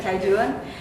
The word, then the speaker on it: Cajun: Yang satu Cajun, bacanya gimana ya dek? Cajun, sama yang sweet sauce ya.